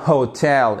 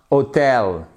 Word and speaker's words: hotel: Et même si vous avez, voyez ici votre apostrophe qui montre qu'on a l'accentuation sur la seconde syllabe. On a bien hotel et pas hotel.